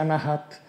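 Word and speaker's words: Anahata: vortici di anahat chakra si scrive anata Ma si pronuncia anahat il sanscrito Sì rapidissimo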